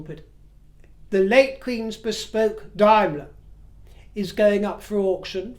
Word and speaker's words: Daimler: she would drive her Daimler. And I am aware, before I progress, that Daimler can also be pronounced Daimler, depending on whether you take your influence from Germany or not.